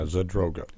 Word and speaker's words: Zadroga: It's Zadroga. Is that how you pronounce that? Yeah, Zadroga.